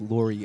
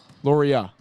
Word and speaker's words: Lauria: shots as he can it is pronounced Laurie uh Lauria not Laurie I just want to